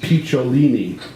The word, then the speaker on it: Picciolini: Jimmy Mayfair anything but the impossible to say Christian picciolini pronounced piccolini which makes for all